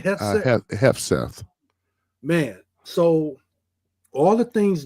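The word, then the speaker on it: Hegseth: Hefseth.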